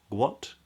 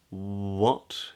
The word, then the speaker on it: what: a Double U uh which is pronounced with two lips rounding W don't pronounce a g at the beginning a lot of catalonian speakers do this so it's not gu gu guat guat but it's what